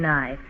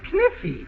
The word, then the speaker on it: knife: That's Kniffy. No, the word is knife. K is the silent letter. K is always silent in front of N.